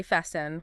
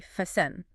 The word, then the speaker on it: fasten: We do not say fasten, we say fasten.